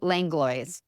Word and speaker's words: Langlois: minute ago you bet it's langlo perfect thank you